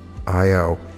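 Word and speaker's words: IAO: Iyaw is pronounced as in Ki. Iyaw, Iyaw, slowly, with vigor.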